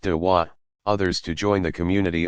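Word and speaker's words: da'wah: Proselytizing is called inviting, dwa, pronounced dawa, others to join the community of Islam.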